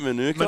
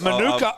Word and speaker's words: Manuka: Manuka? Manuka. See, I say Manuka because in Arabic, like Manuk means like you take it off the ass. Right. So every time I see that honey bottle, like Manuka, I think Cody can confirm this.